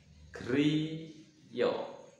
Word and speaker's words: Griya: kromo tengahnya atap rumahnya adalah Griyo ya tulisannya Apakah Griya ya tetap bacanya Trio tulisannya tetap Griya terus bahasa kromo inggilnya